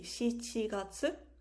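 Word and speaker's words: 七月: we have july the month seven would be shichiratsu and then month four sept um sorry the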